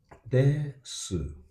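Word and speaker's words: です: Even though they are written this way, Uh-huh. this su is su, So, yeah. but actually this u is unpronounced Oh, that's why, yeah. because this is after an unvoiced consonant which is s, Mm. and it's followed by nothing.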